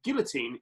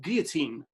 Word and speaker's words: guillotine: So, in which year was the last person executed by guillotine in France, or guillotine, depending how you want to pronounce that?